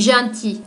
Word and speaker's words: gentil: et gentiment voilà l'adjectif junte il on ne prononce pas la lettre à elle à la fin on dit gentil et voilà la berd gimont donc attention aux